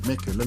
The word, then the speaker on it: Mechelen: Voilà donc le Football Club malinois, KV Mechelen, comme les Flamands le prononcent, c'est KV Mechelen.